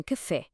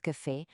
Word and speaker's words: café: Pensem em café. A primeira sílaba K é normal. A segunda fé. O assento obriga-nos a abrir a boca e a dar-lhe ênfase.